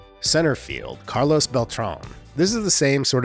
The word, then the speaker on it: Beltrán: But he was always referred to as Beltran or Beltran in his playing days, when it should have been Beltrán.